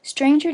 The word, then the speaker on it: stranger: roll and sumon home stranger does not rhyme with anger neither does devour with